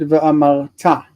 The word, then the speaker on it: ואמרת: This word, yish'alcha, and this word, ve'amarta. Both of these are stressed on the end. Which even native Hebrew speakers mess up on, by the way.